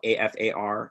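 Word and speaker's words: Qafar: so in afar in english is uh spelled a f a r in our native language it's spelled q a f a r afar and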